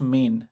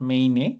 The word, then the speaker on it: Maine: তুমি যেটা বললে, so Maine and California is pronounced Maine, not Maine, because there's a E, so I understood you were trying to pronounce as Maine.